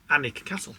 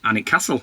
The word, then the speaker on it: Alnwick: U BRC Castle no it's not brancaster Castle um so if you can say it right anic castle anic castle yeah finally you've said